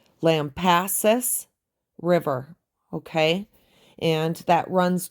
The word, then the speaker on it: Lampasas: So the Lampasas River, that is how you pronounce it.